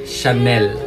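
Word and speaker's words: Chanel: ini atau kali pernah membelinya ini dia cara pelafalan brand-brand terkenal dari Perancis yang pertama Louis vitton yang kedua ini agak muda Syanel yang keempat ini agak susah freestyle Young dia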